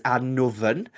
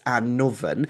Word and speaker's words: Annwfn: So the way that you would pronounce that word is Annoven, and then with modern Welsh spelling, you just drop the Y, so it's Annoven.